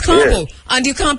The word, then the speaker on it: Ka'bu: of not being able to pronounce a 4-letter word, carbo. You know, it's carbo, and you can't pronounce